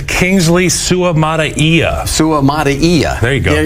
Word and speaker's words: Suamataia: And what that does is it allows them to move Suamatia. Go ahead. It's Kingsley Suamataia.